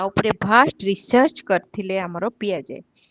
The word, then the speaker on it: Piaget: ଶୁଣିଛ ଜିନ୍ ପିଆଜେଙ୍କର ଜିନ୍ ଜେନ୍ ପିଆଜେ PIAGET କିନ୍ତୁ ପିଆଗେଟ୍ ବୋଲି ତାଙ୍କୁ pronunciation ହୁଏନି ଜିନ୍ ପିଆଜେ.